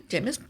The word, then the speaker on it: Jeymes: Oh, how do you say the first name? Oh, yeah. Yeah, like Jameis. Okay, so Jeymes Samuel is spelled Jeymes. Okay, that sounds about right. Okay. Jeymes.